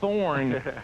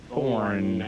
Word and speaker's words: Thorn: Ladies and gentlemen, please welcome to the show with a never before heard song, Paul Thorne. There you go. And the E is silent.